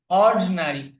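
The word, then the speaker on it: ordinary: অর্ডিনারি, অর্ডিনারি, যেখানে যে আইটা আছে আইটা উচ্চারণে আসবে না।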